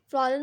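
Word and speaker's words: Fräulein: फ्रॉलेन मतलब होता है in German a title to refer to N unmarried women pronounced as फ्रॉलिन।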